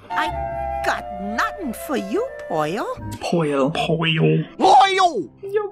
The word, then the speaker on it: Pearl: his girlfriend's Pearl but it's always pronounced po because of his accent and they even just